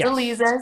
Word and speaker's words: Aliza: to actually say, no, go by the way it's pronounced. It's Aliza.